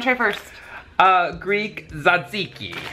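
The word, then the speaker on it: tzatziki: saiki I didn't see how do you say it oh that's Z zaziki yeah zaz okay and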